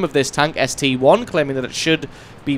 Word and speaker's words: ST-I: my pronunciation of the name of this tank ST1 claiming that it should be pronounced STI as that is indeed a letter I after